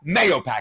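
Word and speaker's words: Mahopac: Mayopac is how you say it.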